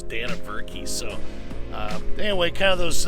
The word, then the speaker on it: Dannebrog: on the radar and trying to pronounce it you know danavurk or something like that but then i had a friend of mine tell me it was dana berkey so anyway kind of